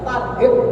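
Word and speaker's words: ترحيب: Tarhib Ramadan, selamat datang lahir Ramadan. Tapi kalau H besar tarhib pakai H yang di sini itu malah ancaman Ramadan. Maka hati-hati pengucapannya, jangan sampai salah pengucapannya. Dalam kitab Targhib wa Tarhib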